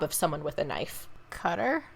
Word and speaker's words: Qatar: someone with a knife cutter yep there you go I'm like it's not right because that definitely doesn't have a cue sound it definitely does not have a cue sound but it depends on how you say it some people say Qatar and some say Qatar also I was right yeah